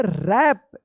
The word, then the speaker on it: wrap: रैप, रैप देख लीजिए इस तरह से, रैप।